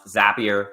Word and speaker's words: Zapier: All right, but for today's topic, now that we know how to pronounce Zapier, we know how to say Zapier MCP, which